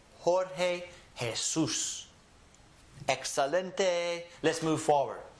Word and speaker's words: Jorge: So anytime you see a word that starts with the letter J, remember that it is actually an H. That's why we have names like Jose. Jose starts with an H, right?